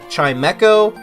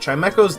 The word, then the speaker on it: Chimecho: however you pronounce that chime echoes the right way to pronounce it I had no idea I did a bunch of google researching and that's how you pronounce it I've always said chime Cho so there's your one